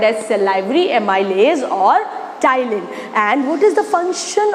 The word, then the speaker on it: ptyalin: as salivary amylase or ptyalin. P-T-Y-A-L-I-N. P is silent.